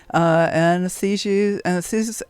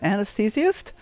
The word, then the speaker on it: anesthetist: ER, doctor, anesthetist. How do you say that word? Anesthesiast? Anesthetist, yes. Anesthetist. There we go. Got to get the accent on the right syllable.